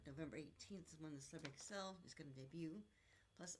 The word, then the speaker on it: Xcel: So she will excel at everything but it's spelled XCl. So don't get it wrong.